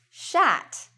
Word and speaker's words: shat: Now in this case, you might notice, why is it written shat? Shat rhymes with cat.